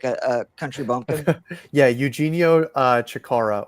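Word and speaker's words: Eugenio Chacarra: Yeah, Eugenio Chikara or Eugenio. That is the way to pronounce it properly.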